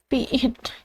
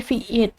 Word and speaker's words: vite: Sini itu fit kata dalam bahasa Prancis untuk cepat diucapkan fiit seperti fiit adalah alat bantu pengembangan